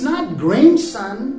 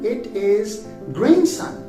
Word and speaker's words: grandson: No, it's not grandson, it is grandson. Not grandson, grandson. D is unpronounced.